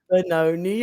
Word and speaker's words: Benoni: Yes, Do I say Benoni? it's actually just Benoni. I don't know why I pronounced it so funny.